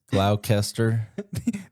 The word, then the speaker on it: Gloucester: C is pronounced as S. The S is silent. Gloucester The S is silent. Gloucester I don't like that.